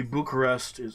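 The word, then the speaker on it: București: same direction could be bucharest is 234 excuse me this way and kia is up here whatever it could be um tulsia also bucharesti is how the they pronounce it here's 2c okay um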